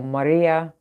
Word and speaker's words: Marija: Marija, or Maria, that's spelled with a J, Marija, was homeless at 15.